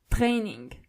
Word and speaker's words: Training: The German version of it is Training. So you only have to roll your R.